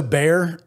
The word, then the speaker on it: Baer: we got that um so bear it's spelled b-a-e-r do you mean eat